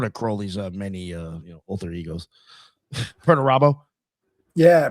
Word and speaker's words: Perdurabo: Peradurbo or something. Oh yeah, yeah. I'd have to look at it to say it right, but yeah, that's one of Crowley's many alter egos. Perdurabo. Yeah, Perturabo.